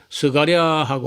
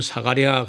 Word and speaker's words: 스가랴: 그래서 모음, 자음은 그건 바꾸면 안 되고, 모음은 사람마다 약간 발음을 달리하는 경우가 있는데, 그래서 어떤 사람은 스가랴하고 어떤 사람은 사가랴 그럽니다.